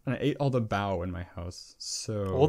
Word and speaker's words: bao: I am really hungry, and I ate all the bao in my house. So Or the what? All the what? Bao, BAO. It's like BAO? steamed pork buns. Oh, pow. Okay. All right. It's spelled with a B, right?